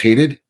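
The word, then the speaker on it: Hadied: Hadid after the people versus the defendant. I'm sorry, can you Can you spell that last name? H A D I E D. And it's It's pronounced Hadid? Hadid.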